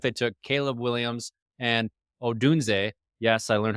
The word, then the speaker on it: Odunze: They took Caleb Williams and Odunze. Yes, I learned how to pronounce that too since our last video.